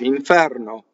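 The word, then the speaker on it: inferno: Watch, iŋfɛrno.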